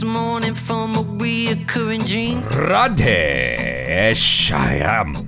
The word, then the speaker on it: Radhe: Because then they're going to correct me and make me feel stupid for my terrible mispronunciation. Radhe Shyam. Did I get it right this time? Yeah, Radhe okay, Shyam.